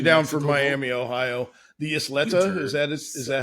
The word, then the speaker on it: Isleta: The Isleta, is that how you say it? Yeah, just Isleta.